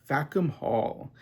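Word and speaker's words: Fackham Hall: A very hard movie to pronounce. Facum Hall. And the whole point is that it's supposed to sound like a curse word.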